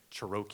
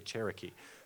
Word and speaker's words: Cherokee: in high school and they say a word like Cheroke Indians and act actually Cherokee oh I I've been reading